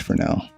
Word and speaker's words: Fresnel: So it's Fresnel. Oh, okay. So I was going to do a Fresnel shader on this, but then I realized the